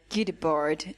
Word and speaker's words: Guy Debord: So I was thinking of this concept by Guy Debord, and That's how you pronounce his the name.